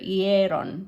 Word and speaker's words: hieron: The stress should go here, hieron. So the stress is on that E, the A sound.